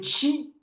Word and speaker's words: Ki: Et donc, le chi, c'est quoi? Ce qu'on a dit, l'énergie, ou on peut aussi le prononcer ki à la japonaise.